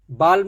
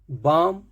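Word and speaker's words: balm: नहीं काम नेक्स्ट है बाम बालम नहीं बाम ऐसे बोलते हैं तो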